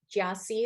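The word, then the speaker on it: Gyasi: Jiasi is how you pronounce her name.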